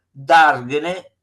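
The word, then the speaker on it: dàrgene: Dargene va sulla A, sennò si leggerebbe da darnegene è si sarebbe sbagliato.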